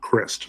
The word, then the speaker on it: Christ: we are again David Christ again um I say Chris it looks like Christ but in one of the earlier documents it says pronounced Christ so that's what we're going with all right next